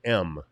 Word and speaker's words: em: em and that's that's it's actually pronounced M like the letter M because that's where it